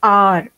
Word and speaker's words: hour: For example, HOUR is pronounced R and not hour.